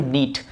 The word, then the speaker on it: knit: जाल या स्वेटर बुनना, उसको हम लोग इंग्लिश में बोलेंगे टू नीट। ध्यान रखना, इसको नीट पढ़ना, KNIT, नीट, KNIT पढ़ेंगे नीट, यहाँ पे के साइलेंट रहेगा।